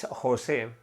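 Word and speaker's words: José: Okay, the name on its origins, it's Jose, with the accent on the second part, but I do usually say Jose.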